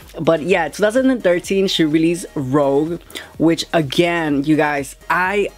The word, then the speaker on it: Rogue: 2013 she released Rogue yes I know it's pronounced Rogue I like to say Rouge because I like to be sarcastic but I